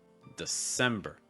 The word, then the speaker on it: December: December, December. Again, you get that sem sound that we've already seen before with that eh. You may also hear December with kind of a long I sound, December, and there's nothing wrong with that, super common. You may just also hear it reduced. So instead of saying December, you may hear December, December.